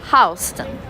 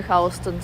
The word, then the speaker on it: Houston: Houston is spelled same way as Houston, Houston, but it's read differently. It's read as Houston.